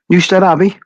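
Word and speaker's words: Newstead Abbey: I'm going to get this name wrong because I always get the name wrong. Is it new? Newstead Abby. Newstead Abby.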